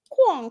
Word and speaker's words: coin: And then in French, instead of quack quack, it's like quong quong. It's spelled coin. But if you say the French accent, quong quong.